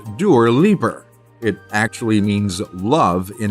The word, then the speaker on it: Dua Lipa: Dua Lipa, pronounced Dur Liper.